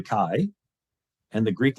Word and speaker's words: chi: it's pronounced Christ and the Greek letter that makes the k sound is written as an X and it's called a Kai and the Greek letter